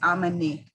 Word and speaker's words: Amine: I know I should say, my name is Amine. I know that makes it fun to pronounce, but it's Amine.